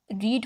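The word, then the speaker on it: read: इज़ अब रीड first form of verb है। रेड इसकी सेकंड हो गई। स्पेलिंग वही रहेंगे। रीड वाले बोलने में चेंज हो जाएगा और रेड यानी रीड रेड रेड।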